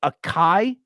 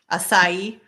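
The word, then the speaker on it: açaí: know I'm gonna say aai Sarah would you know yeah people say aai but it's like aai how's it pronounced asai all right uh Mandy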